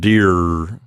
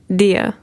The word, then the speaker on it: deer: ends of these words we don't want them to say mirror and deer yes indeed no it's much more open than that mia dia i think the reason